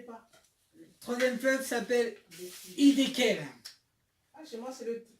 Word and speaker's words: Hiddekel: Le troisième fleuve s'appelle Hiddekel. Ah, chez moi, c'est le tigre. Moi, c'est écrit C'est la même chose. Hiddekel. Ouais. Hiddekel.